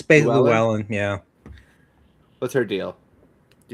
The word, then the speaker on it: Llewellyn: It's basically Llewellyn.